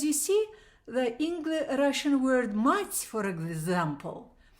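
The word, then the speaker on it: мать: Like, because you see, the Russian word mать, for example, ma and t with the soft sound, мягкий знак they call it, mать, If you change those syllables, you get tma, tma.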